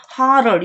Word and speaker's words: harder: 하덜도 harder 이렇게 발음하죠. D가 flap 사운드에서 D나 T가 마치 리을식, 한국어의 리을, 라라라라 할 때 리을식으로 발음하는 것을 flap 사운드라고 한다고 했어요.